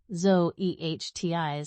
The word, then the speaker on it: Zoetis: Even the pronunciation guide Zoe Ehti was carefully crafted to be memorable yet professional.